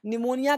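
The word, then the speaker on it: pneumonia: जहाँ पे ब्लैक लगा दिया वो साइलेंट होता है, न्यूमोनिया हो गया। न्यूमोनिया कहते हैं फेफड़े की सूजन को, न्यूमोनिया कहते हैं।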